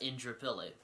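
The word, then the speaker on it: Indooroopilly: completely different from how they're pronounced so it's indrapilly but it's spelt in du roux pilly double o r double o pilly but it's pronounced intro philly it's kind of funny when we have a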